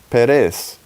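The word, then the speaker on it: פרס: And the word is pronounced Perez.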